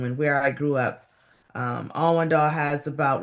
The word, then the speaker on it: Allendale: Is that how we pronounce it? Allendale.